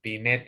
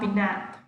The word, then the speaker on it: beneath: You have to bite the tongue, tip of tongue.